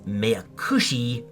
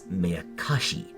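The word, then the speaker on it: Meakashi: Yes, I persistently refer to one of the answer arcs as Meyakushi, when in fact it's Meyakashi. Yes, sometimes I'm a dummy dum-dum-dum.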